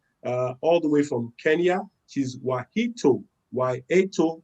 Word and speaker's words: Wahito: Wahito or Wahito, as spelled, but it's Wahito, all right? And so, depending on the part of the world you are in, well, you could call it anyhow, but the name is spelled Wahito, but it's pronounced as Wahito.